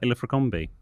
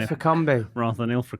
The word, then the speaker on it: Ilfracombe: ago on The Other Place, you talked about Ilfracombe rather than Ilfracombe. Ilfracombe. Yes. Yes, Ilfracombe, that's right. And I'm mispronounced one of those big lakes up in Scotland.